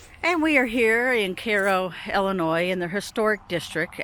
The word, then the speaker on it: Cairo: Now, I know for those of you that are not from this area, it looks like Cairo. Yes, it was named after Cairo, Egypt. However, we pronounce it Cairo, Illinois.